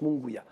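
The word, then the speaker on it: Munguía: battu raime munguya munguya on prononce munguya gros alors c'est de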